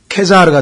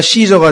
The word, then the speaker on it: 케사르: 지난번에도 말씀드렸습니다만은 영어의 이 C자는 라틴어로는 K로 발음이 됩니다. 그래서 여기서는 키프로스가 되고 케사르가 되죠. 그죠? 케사르가 되고, 이 C로 발음이 되는 K로 발음이 되는 반면에 영어로 오면 케사르가 시저가 되고 키프로스가 사이프러스가 됩니다.